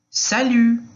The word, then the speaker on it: salut: Então, salut, salut, ok? E o T não vai ser pronunciado aí quando está no final da frase. Da frase não, da palavra, Aí em seguida, como vai você?